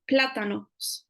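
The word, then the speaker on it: plátanos: so we've got here an accent on the a so we say platanos and you can hear the strength is at the beginning part of the word in Cambio on the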